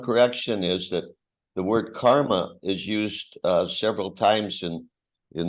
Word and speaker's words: karma: And every time you said it, you said karma, like there's a long mark over the last A. Но в вашем произношении это звучало каждый раз как карма, как будто над вторым был значок длительности. It's not karma, it's karma.